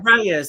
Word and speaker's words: Reyes: How do you say his name? I think I want to say Reyes. Is that right? Reyes. That's it.